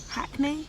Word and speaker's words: Hackney: Apparently the only time I sound like I'm from Hackney is when I say the word Hackney. Oh. Apparently, now that doesn't even think because I actually pronounce the H.